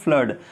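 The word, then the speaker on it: flood: Means फ्लड means बाढ़ फ्लड जैसे ब्लड होता है खून उसी प्रकार इसको पढ़ते हैं फ्लड।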